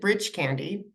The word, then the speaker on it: Breach Candy: from this place called Breach Candy and what a name right it's spelled Breach Candy maybe they got the misspelling for the Brach's candy screwed up there but anyway they pronounce it bridge candy and that's along the